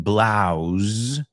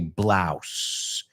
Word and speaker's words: blouse: Well, they were saying blouse, como zeta. In inglés americano, we say blouse, como si fuera una S.